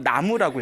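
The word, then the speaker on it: 南無: 나무가 원래 우리가 발음으로는 쓰기는 남무라고 쓰지만 읽기로는 나무라고 읽잖아요. 네.이 나무가 저 인도에서 나마스테라고 하죠.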